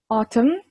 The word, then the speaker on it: autumn: Spring, summer, autumn, autumn, MM-nya jangan dibaca, jadi autumn, anggap aja nggak ada N-nya, dan winter.